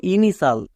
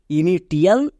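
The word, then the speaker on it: initial: সাল কারণ আমরা জানি কোন ওয়ার্ডের শেষে টি আই এল থাকলে তার উচ্চারণ হয় সাল এটা ওয়ার্ড প্যাটার্ন তাই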